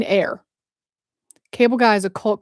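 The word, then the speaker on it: Eyre: And then we got Jane Jane ear. And then we have that evening sun. Oh, pronounced like air. Oh, Jane air.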